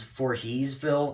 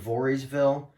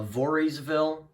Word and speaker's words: Voorheesville: have Del Mar rensselaerville Voorhees well for Paul pronounces it as for heesville instead of Voorheesville which is kind of weird uh Voorheesville Watervliet yeah he he pronounces it like that